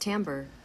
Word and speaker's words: timbre: simply outshine and timbre tambour by the HD 800 s hey Google how do you pronounce the word timbre that's pronounced Tambor hey these sexy French words